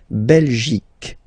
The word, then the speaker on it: Belgique: Remember Q-U-E here, you will get only the sound K, okay? Belgique, Belgique. So it's not Belgique, not at all, okay? Because it's only the K.